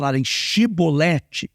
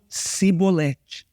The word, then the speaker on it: chibolete: palavra chibolete só que os efraimitas não conseguiam pronunciar o som de ch ao invés deles chibolete que significava enchente eles falavam cebolete só para você entender